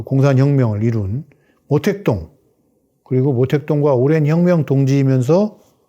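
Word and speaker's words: 毛泽东: 그 중국의 내란을 끝내고 오늘의 번영의 뿌리인 그 공산혁명을 이룬 모택동, 그리고 모택동과 오랜 혁명 동지이면서 또 모택동 밑에서 총리, 국무원 총리를 오래 한 주을레, 중국 발음으로는 마오쩌둥과 조우얼라이.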